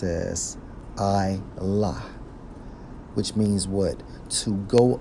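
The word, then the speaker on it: עָלָה: according to the Hebrew Strong's H 59 27 pronounced as I la which means what to go up ascend okay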